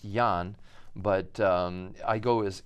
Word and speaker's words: Ian: So my first name is Ian, even though technically it's pronounced Jan, but I go as Ian interchangeably because I became